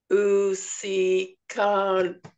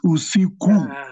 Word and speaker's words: usiku: Usikan. How you say? Nearly. You've said u, si, then in the KU you say ka. It's usiku. That's how you pronounce it.